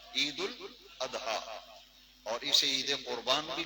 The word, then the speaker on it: عید الاضحیٰ: بھی ہے۔ عید الاضحیٰ، یہ اس کا اصل پروننسیشن تلفظ جو ہے عید الاضحیٰ ہے، عید الاضحیٰ، اور اسے عید قربان